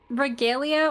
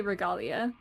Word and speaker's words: Regalia: Regalia or Regalia would work. I say Regalia.